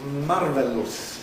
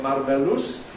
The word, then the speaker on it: marvelous: You want to say something is marvelous, is it? Well, that's how it's spelled. We don't, of course, say marveloose or marvelouse or anything like that. That's o u s at the end.